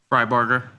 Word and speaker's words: Fryburger: Fryburger. Yeah, it's phonetic.